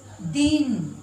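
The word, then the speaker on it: दीन: जैसे देखिए बच्चों यहाँ पर दिन, इसका उच्चारण क्या होगा? द में छोटी न दिन, दिन। इस दिन का मतलब होता है दिवस, दिवस। और ये दिन खींचकर बोल रहे हैं, दिन, इसका मतलब हो गया गरीब।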